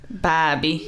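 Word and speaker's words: Bhabie: b-h-a-d oh my god bobby okay you guys it is a silent h is b-h-a-d b-h-a-b-i-e had behaved you expect you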